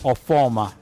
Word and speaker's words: Ofoma: The surname is Ofoma. Ofoma. Exactly.